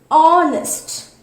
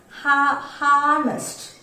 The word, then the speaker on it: honest: We will not pronounce this word as harnessed. Okay, harnessed. We won't pronounce like that. We will be pronouncing this word as honest, where this ha is silent.